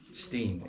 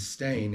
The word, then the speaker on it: Stain: Yeah, I remembered when I was a kid, I thought it was Steen, S-T-E-I-N. But apparently it's Stain, S-T-A-I-N.